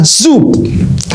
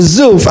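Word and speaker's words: שוב: Perkataan memulihkan di sana itu adalah bahasa aslinya zub. Zub itu bacanya zuf adalah kembali ke titik asal.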